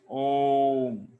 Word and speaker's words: om: And that original sound That original sound is called real spiritual sound, made by 3 syllables, a, u, and ma, and that makes om.